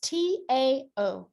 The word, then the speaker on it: Tao: They actually pronounce it with like a D, but it's T in English, because that's what we do. We abominate everything. It's Tao.